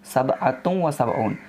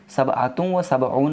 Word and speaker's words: سبعة وسبعون: Arabic में pronunciation होगा सबअतुम व सबऊन। सबअतुम व सबऊन मतलब होता है 77।